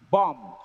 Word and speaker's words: bombed: Bombed. The root word is B-O-M-B. The last letter is B, but the last sound is M here. The B is silent.